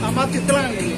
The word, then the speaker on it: Amatitlán: Amatitlán.